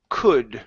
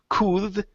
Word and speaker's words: could: Let's try the word could right here. Now in this word, the L is silent. We don't pronounce it. So instead of saying could, could, okay, the L we're gonna take out.